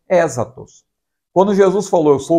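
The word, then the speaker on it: ἔσχατος: Nós falamos escatos, né? Mas no grego a pronúncia correta seria esta, eschatos, que significa último, aquilo que vem por último.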